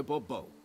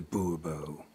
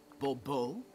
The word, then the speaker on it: Bourbeau: I expect you to address me as Sir, or better yet, as Monsieur de Bobo. Jó, menjünk a tárgyra. Fine, Monsieur de Bourbeau. The emphasis falls on the last syllable. Bourbeau?